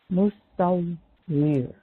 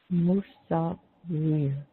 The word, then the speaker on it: Musawwir: Musawwir. Musawwir.